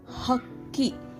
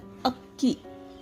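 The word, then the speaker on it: ಹಕ್ಕಿ: See, hakki. This is ha. Ha. Okay. Instead of telling this hakki, if you tell akki, okay, this gives the different meaning.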